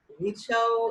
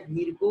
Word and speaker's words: Virchow: ভিরশাও এটা উচ্চারণ করা আছে এইভাবে, আসলে ইংলিশ বানানটা হচ্ছে VIRCHOW, সম্ভবত এই বানানটাই। তো সেই ক্ষেত্রে উচ্চারণ কিন্তু ভিরশাও করা যায়, ভিরকো করা যায়, ঠিক আছে, বা ভারচুও করা যায়। এখন ভিরশাও, ভিরকো বা ভারচু যেটাই বলা থাকুক ওই একই মানুষ, উচ্চারণগুলো আলাদা করা হয়েছে বিভিন্ন জায়গাতে।